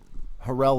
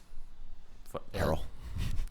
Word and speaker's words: Harrell: and you know they're Harrell has actually been pretty decent for them I think I love the way you say his name Barrel I mean well it's Harrell uh sort of like uh Neptunes anyway sorry herrellas has